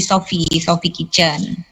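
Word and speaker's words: Sophy Kitchen: Mbak ini Sophie Kitchen atau Sophie Kitchen? PHY itu bacanya V kan, jadi Sophie Kitchen.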